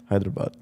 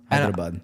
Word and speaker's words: Hyderabad: do you say it Hyderabad Hyderabad there's a proper way of saying that would be more with a Ortho accent but I just I